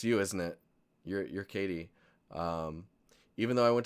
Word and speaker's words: Kejti: person is uh Katie it's actually written in the most unique way I've ever seen but pronounced Katie I like it it's